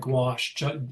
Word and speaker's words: gouache: You say it like gouache. Say it like gw.